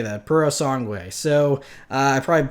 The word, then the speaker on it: Purosangue: and I believe how you say it is Purosangue, I think, is how you say that, Purosangue. So I probably butchered that, but I'm not Italian.